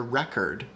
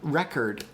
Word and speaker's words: record: If you listen to record, I told you it was the same sounds. That was a lie. Record, the second syllable's vowel, it's not an O of record, it's an of record, And that's because the main way that English distinguishes stress is by reducing vowels in unstressed syllables, which means saying